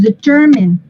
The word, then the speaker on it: determine: ¿Dónde va el acento? ¿En la 1, la 2 o la 3? The second. En la segunda. Entonces, automáticamente esta ya no va a sonar mine. Es determine. Determine.